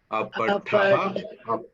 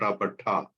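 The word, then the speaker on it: अपतः: Notice this. Apataha, not apatha. Apataha.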